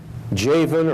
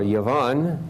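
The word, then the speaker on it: Javan: Japheth where Gomer Magog jayven or Yvonne the Hebrew would pronounce the J as a y2 ball Meshach and Pyrrhus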